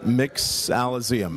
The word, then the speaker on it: Mixologium: Mixologium. Mixologium. So it's mixology combined with museum, because again, we're building a search engine online and hoping to archive all the great drinks we find.